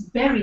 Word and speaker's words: bury: was there okay yes the spellings again is b r y it should sound like bu but let's bury this Hatchet or let's